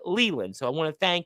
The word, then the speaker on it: Leyland: second time I remember, because it's L-A-Y. I pronounced it like that, but it's actually said Leland.